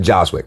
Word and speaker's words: Jozwiak: Is that how I say it? Jozwiak. Jozwiak. A is silent.